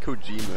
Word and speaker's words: Kojima: Kojima game. It's not Kojima, it's Kojima.